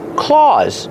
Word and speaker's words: claws: Claws. Use the a sound like Santa Claus. That's right. They sound the same.